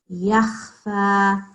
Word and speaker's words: يخفى: Okay, it's not yag. This is not ghain. This is kha. Yakhfa.